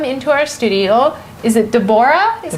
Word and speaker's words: Deborah: Now, we welcome into our studio, is it Deborah?